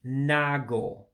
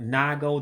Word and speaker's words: na-agụ: na and a dash, you don't pronounce the second A. So you eliminate the na-agụ. So it just ends up being like N-A-G-O. All right. So that second word ends up being na-agụ.